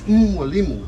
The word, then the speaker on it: Mwalimu: Like, for example, my name, my name Mwalimu, that Mwalimu that the English says M, it's Mwalimu. M is guttural, N is nasal, and it's Mwalimu, because M doesn't carry that consonant W after it.